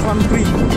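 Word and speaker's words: Franprix: যে লাস্ট একটা বলি, লাস্টের যে অ্যালফাবেট থাকে সেটা উচ্চারণ হয় না, মানে উচ্চারণটা হাইড হয়ে যায় যখন আমরা উচ্চারণ করি, তো এটা আমরা বলি ফ্রন্ট্রি, এক্সট্রা উচ্চারণ হয় না, তো দেখতেই পাচ্ছ।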